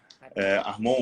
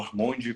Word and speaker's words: Armond: Armon ou Armonde, como alguns falam.